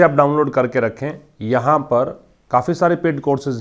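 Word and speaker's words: pyrrhic: Pronunciation क्या है इसका? पिरिक।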